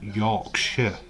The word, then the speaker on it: Yorkshire: We don't pronounce that. I am from Yorkshire, not Yorkshire.